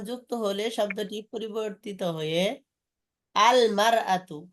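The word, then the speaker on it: المرأة: আলমারা তো হয়। জি আল যোগ হয়ে যাবে। আলমারাতে হামজাটা উচ্চারণ হয় না, আলমারা তো হয়ে যায়। আচ্ছা যাই হোক ইনশাআল্লাহ। হামজাটা ড্রপ হয়ে যায়।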